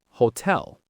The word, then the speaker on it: hotel: The letter H is silent in Spanish. That means we don't pronounce it at all. It's like it isn't there. For example, hola, hotel.